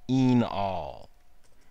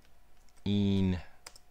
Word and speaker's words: enol: You pronounce it enol. Pronounced enol.